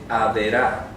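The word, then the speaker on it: עבירה: Mientras que trastorno se dice edra, transgresión se dice averá.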